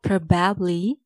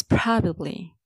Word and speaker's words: probably: It's not probably, it's probably. Don't stress the second part, bab. It's not probably. Do stress the first part, pro.